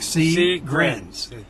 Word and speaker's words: Seegrins: us we know crrs s e e g r i ns like C grins so if you're looking